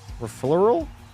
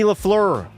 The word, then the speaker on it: Lafleur: Refleural? I think you butchered that, brother. It's Ricky Lafleur. Not Ricky Flower.